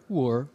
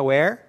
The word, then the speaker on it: were: Lembrando que a pronúncia was, were, né? Então não é where, né? Que o where é onde, tá? Toma cuidado para não confundir a pronúncia, certo?